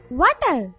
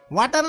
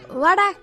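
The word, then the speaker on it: water: ওয়াটার। Lipstick কি বেশি দিয়ে ফেলছেন? ওয়াটার না, এটা ওয়াটার। ওয়াটার। জি স্যার। জিহ্বার আগে সামনের দুই দাঁতের সাথে লাগবে। ওয়াটার ওয়াটার। ওয়াডা।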